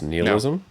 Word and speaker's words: nihilism: the way i pronounce nihilism no it is and i just want to point out that while everyone says it nihilism the root of that word is latin and it doesn't heal so you know what y'all